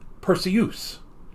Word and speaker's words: Perseus: the man's name as Perseus, but in the original Clash of the Titans, Laurence Olivier as Zeus pronounced it as Perseus, because it rhymes with Zeus.